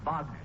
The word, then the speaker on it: Wagner: particular piece is by Vagner that that's pronounced vogner son I simply said